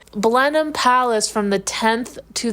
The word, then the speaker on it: Blenheim: thank you ohy well I didn't know how to pronounce it like months ago and you told me it was blenham and I was like